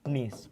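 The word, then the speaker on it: gneiss: बन जाती है नीस और नीस की स्पेलिंग ये होती है जी साइलेंट है इसमें नीस ठीक है यहां पर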